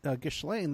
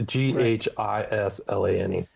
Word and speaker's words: Ghislaine: And Ghislaine, the daughter, and by the way, everybody complains about the name, how I pronounce that, but the thing is, that's how